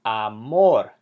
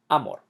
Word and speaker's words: amor: And same with amor, ends in an R. It's amor, not amor. Amor.